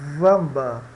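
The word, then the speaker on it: Wamba: unicamente em nomes góticos eh que se escrevem também com v por exemplo vamba vamba né você escreve também vamba tá e em palavras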